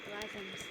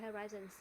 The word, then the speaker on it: horizons: Broaden my horizons. Và từ này các bạn thường hay đọc là horizon là sai nhá. Broaden my horizons.